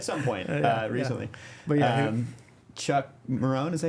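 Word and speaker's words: Marohn: But Chuck Marone, is that how you say it?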